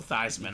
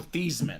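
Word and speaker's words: Theismann: say about 70% of the time I pull thyman I was trying to not say it this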